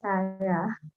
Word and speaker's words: Zara: My name is actually pronounced as Sarah. Just Yeah, Sarah.